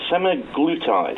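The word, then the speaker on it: semaglutide: Um so the the main ingredient seems to be se let me just get this right. Semiglutide I think we pronounce it.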